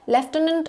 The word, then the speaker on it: lieutenant: Left tenant is the Brit is a British uh pronunciation but this isn't the spelling.